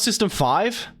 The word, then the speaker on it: System V: V is system V pronounce system five what the [ __